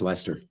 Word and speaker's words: Leicester: No, if you live in England, it's Leicester.